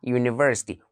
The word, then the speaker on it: university: so there is a university why universes start with the letter U it's a vowel letter however it gives a consonant sound not as the difference between umbrella umbrella umbrella but university university university university university it's